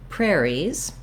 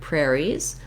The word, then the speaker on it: prairie: The main stressed syllable is the first syllable. It sounds like prayer.